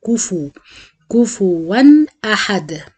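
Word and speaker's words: كفوًا: من الأخطاء الشائعة في سورة الإخلاص إن دايما الناس بتنطق الفاء ساكنة، كفوا معناها فاء ساكنة وهي عليها ضمة، فلازم أتم الضم وأضم الشفايف وأقول كفو كفوا أحد.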